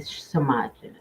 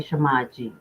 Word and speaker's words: Semaj: We're going to be talking about Kenneka Jenkins, Shanquella Robinson, Kendrick Johnson, and Samaji. Okay, Shamaji. Let me pronounce her name correctly.